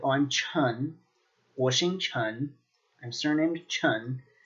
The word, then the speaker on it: 陈: Chun. You'll also see this as Chan due to certain accents when people were first trying to develop romanizations for the Chinese language, and as well as other Chinese languages.